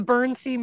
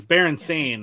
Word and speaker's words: Berenstain: Yeah, the Bernstein Bears thing. Yeah, that Yeah. changed. It's Berenstain, I believe. Bears. Yeah. Yeah, but when I was a kid, it was always spelled like the German way, Stein.